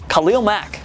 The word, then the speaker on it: Khalil Mack: SL overall game breaker Khalil Mack the University of Buffalo produ name is pronounced with emphasis on the first syllable Khalil Mac not Khalil